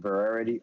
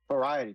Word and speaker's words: Variety: was a person from Varity I think varet no yeah uh what's the name of that magazine variety thank you my fa I was saying it wrong my fault I was saying it all wrong yeah he exposed deadlock